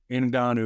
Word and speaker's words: Ngannou: Because everybody still wants to see Francis Ngannou, because I hear a lot of people mispronounce his name. Ngannou is how you pronounce it.